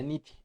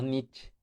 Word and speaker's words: Nietzsche: Y en alemán se pronuncia Nietzsche, no Nietzsche.